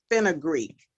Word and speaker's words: fenugreek: Fenugreek. It's spelled FENUGREEK seeds.